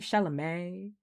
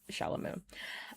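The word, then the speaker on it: Chalamet: I just like calling him Shalamu. Um, I know his legal name is Timothy Shalamé. I understand how to say it. I'm saying it wrong on purpose because I dislike him.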